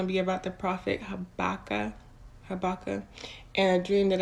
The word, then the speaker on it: Habakkuk: me double check y'all it's pronounced habakkuk the prophet habakkuk um